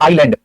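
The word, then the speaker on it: island: आइलैंड, आइलैंड, spelling से आइसलैंड लिखते हैं, है ना? लेकिन बोलने में आप आइलैंड बोलेंगे, आइलैंड।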